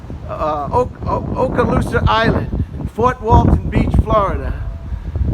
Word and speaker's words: Okaloosa: the it's okay go ahead what is it okaloosa yeah man that's a crazy name huh thank you okaloosa uh okaloosa island fort walton beach florida this is a